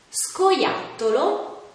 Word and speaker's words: scoiattolo: sciatore scena e fish quando invece sono seguite da le altre vocali oppure dalla lettera h si pronunciano in modo più duro ad esempio scatola scoiattolo scuola schermo beh per ora la lezione